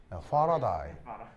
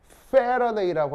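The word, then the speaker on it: Faraday: 파라다이라고 읽을 수도 있어요. 그렇죠? 왜냐하면 영어를 쓰는 사람은 에와 아를 구분하지 못해요. 영어를 쓰는 사람은 에, 아 이게 같은 발음이에요. 그래서 우리 귀에는 에, 아 다르죠. 그래서 이제 영어를 쓰는 사람은 페러데이라고 하건 파라데이라고 하건 똑같은 발음이에요. 정말이에요.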